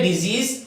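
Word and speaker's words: disease: ये डिजीज, इसको बोलते हैं डिजीज, और ये होता है डिसीज। थोड़ा सा डिफरेंस है इसके अंदर जो प्रोनाउंसिएशन के अंदर।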